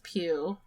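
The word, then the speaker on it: Pugh: really touch on but Florence I believe you pronounce it Florence piu um who plays the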